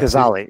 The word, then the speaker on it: Gazzaley: Adam Gazzaley, who is, and Adam, am I pronouncing that right? Just to double check. Gazzaley.